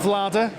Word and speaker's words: Vlaada: It's not Vlaada? Nope. I think if I put a sort of J in the end, so Vlaada.